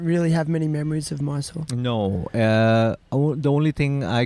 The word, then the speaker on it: Mysore: Anyway, so look, Loki, you were born in Mysore. Mm-hmm. That's the way to pronounce it in Yes, India.